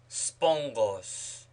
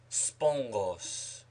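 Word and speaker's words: σπόγγος: Ghamma before Ghamma, Kappa, Chi, Xi is pronounced as Ni, as spongos, sponge, spongos, encomion, encomium, encomion, bronchos, throat, bronchos, larynx, larynx, windpipe, larynx.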